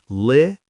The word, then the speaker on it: literally: Remember the easy pronunciation, Li-ter-lee, and remember to use it to add emotion to your stories.